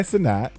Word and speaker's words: Cenat: So on an Instagram with Nicki Minaj, famous YouTuber content creator Kai Cenat, it's pronounced Cenat, BK.